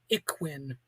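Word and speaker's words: Ikhwan: and betrayal of the IQ. That's spelled like Ik Hwan.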